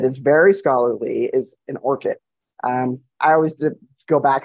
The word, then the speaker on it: ORCID: I sometimes call them orc IDs like Tolkien asks like orc um and sometimes I try to think of it like the flower I think the proper